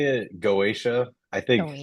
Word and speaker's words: Goetia: Uh so we say it Goatia I think Goatisha the proper way it's it's uh it's Greek originally so Goethia is probably more accurate but okay